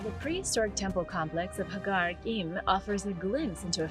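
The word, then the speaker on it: Ħaġar Qim: prehistoric Temple complex of Hagar Kim offers a glimpse into a forgotten era it's spelled like Hagar Kim but the Q is apparently silent dating back over 5,000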